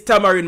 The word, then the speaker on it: tamarind: It must say tamarind. Me say tamarind. Obviously it technically is tamarind because it's t a m a r i n d.